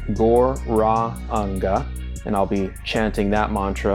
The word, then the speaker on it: Gauranga: The mantras that I'll be using today are Gauranga, pronounced Gor-ra-anga, and I'll be chanting that mantra on the head bead.